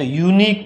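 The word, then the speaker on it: unique: जैसे यूनिक है, यहाँ पे लिख दिया मैंने यूनिक। अब स्पेलिंग तो देखिए यू आ रहा है, और यू अपना क्या है? स्वर है, लेकिन जब इसको पढ़ते हैं तो यूनिक पढ़ते हैं, तो इसका जो पहला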